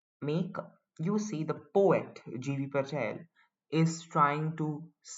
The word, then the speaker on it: Gieve: the poet J Patel uh many people also pronounce his name as gief Patel or gii Patel it's a prop prounce pronunciations often vary but however I'm going to pronouncing it as GV Patel and uh please just remember the spelling